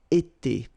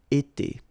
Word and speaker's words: été: itself every time, and it's pronounced like été, été.